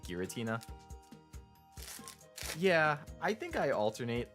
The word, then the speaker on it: Giratina: two in that pack I say gutina with the G something like giraffe hard G I've never heard people say it with a soft like oh like gutina yeah I think I